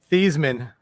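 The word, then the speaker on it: Theismann: Thiesman. Mr. Thiesman. Mr. Thiesman. That's what his name is. He changed his name he changed the pronunciation of his name to rhyme with Heisman.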